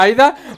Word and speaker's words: Aida: próximo, la otra Aida, creo que ha dicho Junko que se pronuncia Aida, va a tener un cojón de cartas que van a ser como munición.